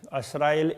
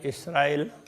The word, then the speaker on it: इसराइल: बनी असराइल, असराइल इसराइल, इस तरह से वो उच्चारण में थोड़ा थोड़ा फर्क है। कोई असराइल कहते हैं, कोई इसराइल कहते हैं।